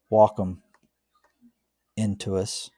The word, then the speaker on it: Wacom Intuos: And like I said, I've had the Wacom Intuos, that's how you say it, for a number of years, and always used it for stuff.